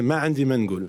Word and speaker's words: Ma Andi Mangoul: Ça s'appelle Ma Andi Mangoul, si je l'ai bien prononcé. Mohamed Alouchi, je l'ai bien prononcé ? Pour toi, très bien, mais c'est Ma Andi Mangoul.